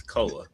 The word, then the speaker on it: Koa: It's Koa. Is it Koa? What did I say? Koi Koi, Pete? like he's a fish. Because it looks like koi. It looks more like koi than koa.